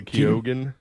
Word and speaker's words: Keoghan: Kogan? Barry Keoghan.